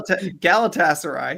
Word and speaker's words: Galatasaray: lamina um he left for Gala the the Galatasaray I don't know Danny how you say it gal Galatasaray you were close enough I was close enough